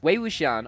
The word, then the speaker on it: Wei Wuxian: Wei Wuxian, I'm pretty sure is how to pronounce the name.